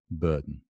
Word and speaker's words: burden: don't blame me okay burden okay again this is kind of slightly problematic sound it's a lengthened one syllable burden right and not that